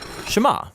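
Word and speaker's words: שמע: Now, the first word of the Shema is hear or listen, which in Hebrew is pronounced Shema.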